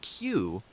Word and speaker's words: queue: Pronounced Q, the word retains the same sound even when its last four letters, U-E-U-E, are removed, leaving just the letter Q.